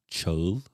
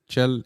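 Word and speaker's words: Çağıl: Cagil. Cagil. Cagil has three letters that don't exist in the English language. First is Che, but you can represent it with C and H.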